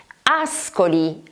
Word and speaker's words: Ascoli: Ascoli.